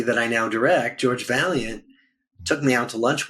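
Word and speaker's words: Vaillant: pronounce his last name he pronounces it Valiant I always not noticed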